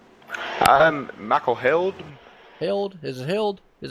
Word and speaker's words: Held: Got Michael, what is that, Hyde? Is that how you say that? I believe that's how you say it. Is that right? Michael Held.